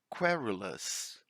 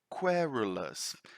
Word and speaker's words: querulous: I'm going to repeat it slower for you before we move to the meaning of it so you can catch the pronunciation, right? Querulous, querulous, querulous. That's the way we pronounce it.